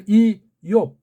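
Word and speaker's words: איוב: 우츠 이오브 요거 베이트를 발음하는 데면 걔네 발음으로 이욥 우리는 이욥 그렇게 읽을 수 있는데 한글을 번역하니까 제목이 어떻게 되어 있죠? 욥 잘못되어 있는 거예요. 이옵이라고 해야 돼요.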